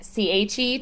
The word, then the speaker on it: che: think say, and then CHE, che, but it's the opposite. So, it's going to be CHE is K, Che.